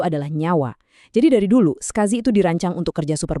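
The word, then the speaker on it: SCSI: Sementara itu, SAS adalah keturunan langsung dari Skazi yang dibacanya Skazi, sebuah protokol legendaris di dunia server dan mainframe.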